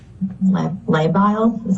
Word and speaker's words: labile: The next sentence here says her mood has been labile. Am I pronouncing that correct?